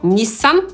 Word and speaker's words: Nissan: Wydawałoby się nic skomplikowanego znowu, ale po angielsku czytamy to słowo tak jakby było tylko przez jedno „s”, no i po angielsku nie zaczyna się ono na „ń”, tylko na /n/.